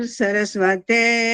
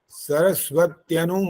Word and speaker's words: सरस्वत्यनु: सरस्वत्यनु ये है, सरस्वत्यनु मन्यस्व। हाँ जी, सरस्वती अनुमन्यस्व। नहीं, सरस्वती मत बोलो ना, सरस्वत्यनु, त्यनु, त और अच्छा, य, त आधा है, फिर य है, फिर नु है, फिर तो से बन गया बोलूं?